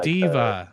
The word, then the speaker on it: D.Va: Because I was playing Overwatch the other day and I'm like, yeah, I'm gonna be DVA, and they're like, who? And they're like, oh, Diva.